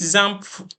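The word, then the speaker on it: XAMPP: I'll be I'll be recommending either wamp or Zam server so let's just go to Google and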